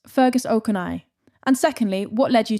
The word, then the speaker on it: Fergus O'Conaill: Firstly, how do I pronounce Fergus Okana? And secondly, what led you to writing? Well, it's pronounced Fergus Okonnell.